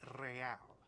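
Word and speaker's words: réal: you owe me 130 real pronounces the r with a mo aristocratic accent the I IR or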